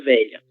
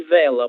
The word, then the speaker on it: velha: Esse dígrafo, ele sempre será pronunciado dessa forma, lha, lha, lho, lha, na palavra velha, certo? O que acontece? Eu observei que em algumas apresentações, algumas pessoas falaram filo, filo e vela, por exemplo, como se